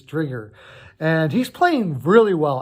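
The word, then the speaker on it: Driedger: his name's right here it looks like dredger but his trigger and he's playing really well I'm really happy for you mr.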